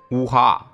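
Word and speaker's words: уха: 是鱼汤，其俄语发音为乌哈。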